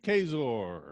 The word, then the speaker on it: Kaczor: Kaczor is joining us. Kaczor. yes, the C is silent.